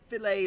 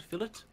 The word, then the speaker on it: Fillet: between net Street and fillet lane or Filat Lane depending on your originality solo oh yeah you got it hmm yeah you can either call it fill it or you can say it wrong the deed not say